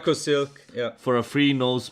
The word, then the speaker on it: Leukosilk: Stefan, use Leukosilk. Did I say it right? Leukosilk, yeah.